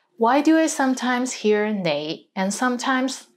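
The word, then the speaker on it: 你: is the word you the right way to pronounce it is nay but in hong kong many people pronounce it as lei lei let's get into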